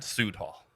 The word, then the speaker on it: Südhalle: sued hall you know rend sood hall which i think is like suds but it's also south aka south hall yeah so um a